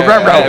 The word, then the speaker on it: Marrero: Remember how in Spanish they taught you to roll your R's? Yeah, Marrero.